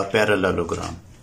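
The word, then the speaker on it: parallelogram: हैं वो है area पैरेललोग्राम, area of पैरेललोग्राम। अब इसके स्पेलिंग थोड़े से मुश्किल हैं पैरेललोग्राम के, तो इसको हम प्रोनाउंस कर लेते हैं पैरालेलोग्राम, एरिया ऑफ पैरालेलोग्राम।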